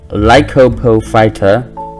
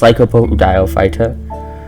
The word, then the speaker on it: Lycopodiophyta: We have Zamites, Lycopophyta. No, it's Lycopodiophyta.